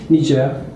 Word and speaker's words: Niger: lot about your experience for two years and niger am i pronouncing it right yeah nija okay and you said you learned languages and